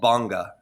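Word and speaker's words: bhanga: He goes, "You might hit a state uh called banga is spelled b h a n g- a banga nana."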